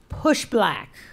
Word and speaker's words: Push Black: and executive director of push black rhymes with pushback just in case you